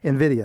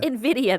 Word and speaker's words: Nvidia: it's titled Nvidia stock Nvidia Nvidia that's how you say it not Nvidia I know it's weird to look at it's okay in I